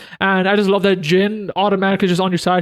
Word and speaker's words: Zin: Fun fact, I just realized in this game that it's pronounced Jin. I used to call him Zin, Z-I-N, because that's how it's spelled.